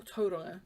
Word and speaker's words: Tauranga: So, I've not filmed all that much this week since coming back from Tauranga, or Tauranga, to say it correctly.